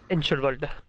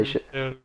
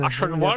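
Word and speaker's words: Eichenwalde: Je crois que c'est Aishen. Mais y'a pas Ein. Enchelwald. Y'a pas de Ein au début, y'a pas de N au début. Oui, Aishen.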